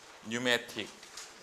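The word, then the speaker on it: pneumatic: 네뷸라 영어신데 네뷸라이제이션 뉴매틱 여기 P는 묵음이고 뉴매틱은 무슨 뜻이야?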